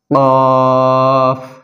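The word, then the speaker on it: ق: লাগিয়ে প্রিয় বন্ধুরা আমরা জিহ্বার গোড়া তার বরাবর উপরের তালুর সঙ্গে লাগিয়ে উচ্চারণ করব আমি বারবার বলছি আপনারা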